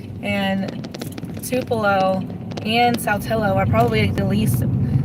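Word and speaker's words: Tupelo: Alex the city I live in is called tupo but the very first time I ever like came here I would say tupello because that's how I would pronounce it but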